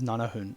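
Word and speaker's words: 七分: z um like nana if you say like seven minutes you you'd normally only ever hear is nana hoon not stupid yeah and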